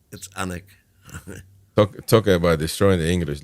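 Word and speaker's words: Alnwick: That's not Allenwick. It's Annick.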